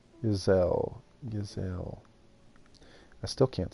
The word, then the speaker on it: Geisel: It's called Geisel. So soft G. Geisel.